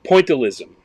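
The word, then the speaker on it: pointillism: Do you have a It's pointalism.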